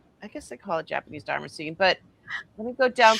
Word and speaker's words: damascene: it dam- I call it damascene. Damascene. Damascene, like Damascus.